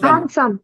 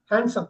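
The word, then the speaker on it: handsome: கூடாது இங்க பாருங்க ஹேண்ட்சம் டி தான் சார் டி தான் சூப்பர் ஹேண்ட்சம் ஹேண்ட்சம் ஹேண்ட்சம் இப்ப ஹேண்ட்சம்னு சொல்லக்கூடாது ஹேண்ட்சம் ஹேட்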